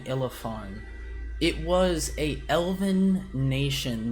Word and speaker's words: Illefarn: spell Ilifon? It is spelled ILLEFARN. I was expecting it to be half like elephant, but that's fancy.